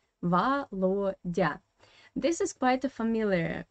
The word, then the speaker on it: Володя: Where you see the red color, there is the stress in this Russian word. And according to Russian phonetic system, you should pronounce the first O in as an A. Volodya. Why? Because it is in unstressed position, without stress. That's why this O in unstressed position you pronounce as A.